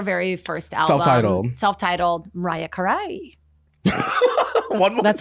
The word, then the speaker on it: Carey: her what's her very first Alum self-titled Mariah Karai one more that's how you say it um